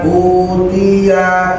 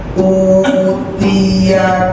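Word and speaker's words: أُوتِيَ: Di sini banyak yang kebablasan bacanya, bukan utia, ianya harus pendek. Fa'amma man utiya kitabahu biyaminih.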